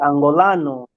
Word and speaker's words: Angolano: Yeah, in English, of course, but we speak Portuguese. Uh, We say Angolano, Angolan, Angolano. Angolano, yeah.